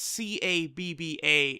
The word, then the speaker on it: Cabba: though they pronounce it Cabba. It's C-A-B-B-A, and from what I heard, it sounds like they say Cabba.